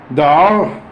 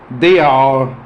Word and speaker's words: dehors: And I told you you could say dehors, dehors, or dehors. I told you that the other day. Remember, that means outside. If you hear that word pronounced in all the ways I just said it, it means outside.